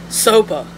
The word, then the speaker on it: SOPA: They're talking about this Sopa, I guess.